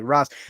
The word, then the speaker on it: Ra's: like pronunciation, and that I think it's pronounced Raz, but it has this Arabic character in it that's called a Raish, and that's why some people call him Raish and not Raz, but it's actually Raz.